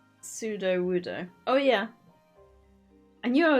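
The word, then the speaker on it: Sudowoodo: did it again was absolutely soaked that it's pseudo woodo oh yeah I knew I was saying it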